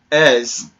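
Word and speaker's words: Eberechi Eze: And this guy right here, Eberechi Ez, that's how you pronounce it, Ez, from QPR, has a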